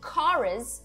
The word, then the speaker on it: chorus: É, então, ó, atenção ao inglês aqui, chorus, a pronúncia não é cho, é co, é som de k.